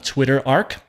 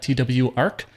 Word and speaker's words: twarc: is written in python called twitter arc i guess that's how you'll pronounce that tw arc and it's just a